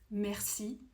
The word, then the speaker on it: merci: you don't have to try as hard to pronounce it. For instance, merci.